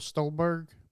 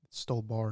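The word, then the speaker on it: Stuhlbarg: Michael Stolberg. Stole bar, didn't it?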